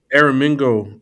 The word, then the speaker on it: Aramingo: And I want to make sure I'm pronouncing this area correctly. Is it Aramingo? Aramingo, Aramingo Village.